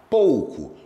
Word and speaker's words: pouco: Pou, pou, pou, não vibra o nariz. Pouco é oral.